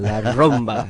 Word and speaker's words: La Rumba: Did I pronounce it correctly that Perfectly, time? La Rumba, yes.